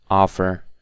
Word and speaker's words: offer: explain and I think the odd one out here is I think it'll be offer because all of the other words are stressed on the second syllable except for offer so offer is the